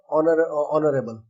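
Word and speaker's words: honorable: लेकिन एक लफ्ज जो है वो एच से शुरू है और वो है ऑनरेबल, जबकि एच एक कॉन्सोनेंट है लेकिन एच साइलेंट होने की वजह से इसकी अदायगी ऐसी है जैसे ये लफ्ज ओ से शुरू हुआ हो, इसलिए इसको वोवल की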